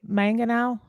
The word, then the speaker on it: Mangano: are you kidding me it's man Gan rhyming with man and O man o with a Southern drawl it's the southern draw